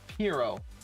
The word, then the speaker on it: Piero: Also, his name isn't brought up a whole lot, but his name is pronounced Piero.